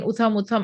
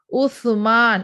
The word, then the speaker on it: Uthman: title was uh and she could not pronounce that it was again and again utha mutham i don't know what is with utham it is uthman it is not three dots it comes with the tongue in between your teeth